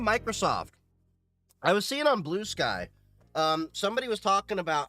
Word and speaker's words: Bluesky: I keep pronouncing blue sky like it rhymes with brewski. Blueski.